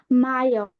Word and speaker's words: mayor: Adya, always remember, whenever you see this letter in any word, you always and always need to pronounce it as ah. Never pronounce it as A. Okay? Got it? Okay. So it's Yeah. always mayor. It's not mayor. It's mayor.